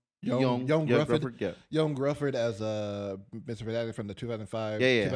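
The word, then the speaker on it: Ioan Gruffudd: But yeah, I would say uh I think I would still put uh uh how do you say Yuan Gruffford? Yan Gruffford as uh Mr.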